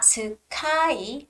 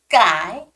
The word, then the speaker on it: sky: it's starting start starting it's not sukai but it's Skye Sky the consonant sound is a little bit tougher and harder stronger I would say but stay stay okay